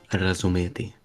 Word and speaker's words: razumeti: The proper pronunciation, Razumeti.